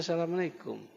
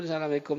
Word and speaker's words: Assalamualaikum: Itu pun Assalamualaikum itu banyak salah Pak bacanya. Kumnya itu pendek. Kap mim mati depan kum. Assalamualaikum. Yang banyak di tengah lapangan apa? Assalamualaikum. Nah, kumnya panjang. Yang benar kumnya pendek.